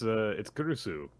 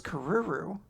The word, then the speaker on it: Kurusu: Yeah, and it's Kurusu. Love. I thought her name was Karuru. I've been saying it wrong for so long.